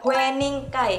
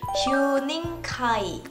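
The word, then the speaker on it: Huening Kai: Sebenarnya kalau misalkan dilafalkan di dalam bahasa Korea, Hue-nya itu dibaca Hyu, jadi Hyuning Kai. Wening Kai tapi Hyuning Kai.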